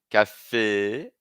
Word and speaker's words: café: é café hein não é café cafê esse acento agudo traz o som e cafê Masculino a gente vai